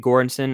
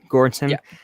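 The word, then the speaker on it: Göransson: i was saying ludwig gorenson and someone it's actually ludwig gordson because he is swedish i want to say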